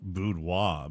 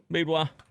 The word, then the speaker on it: boudoir: I wanted to do boudoir, but she was a coworker, so Yeah, that sucked.